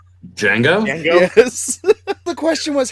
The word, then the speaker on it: Django: I'm just now thinking of freaking the Quentin Tarantino film with the D is silent. Django?